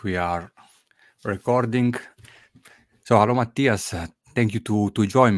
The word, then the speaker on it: Mathias: all right we are recording so hello Matias thank you to to join me did I pronounce it good yes you did thank you